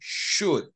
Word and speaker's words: should: worry should people remember the L is silent and we say should should you should should shall